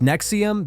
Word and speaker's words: NXIVM: Now, let's talk about something even darker, NXIVM, pronounced Nexium.